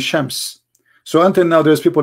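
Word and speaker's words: شمس: Aramaic, sometimes they pronounce the letter sheen as seen, like Sams and Shams.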